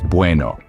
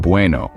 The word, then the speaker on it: bueno: pronounced somewhat like bu with the B sound being softer than in English it's not a hard B but more of a blend between B and V the e in buou